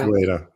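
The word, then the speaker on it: Uyeda: I don't want to mispronounce his name. Is it Ueda? Yeah. Ueda.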